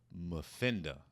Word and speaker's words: Muffinda: film coming soon called Muffinda. I believe I'm saying that correctly. I believe it's enunciated phonetically, like Muffinda. That's an M, not an N.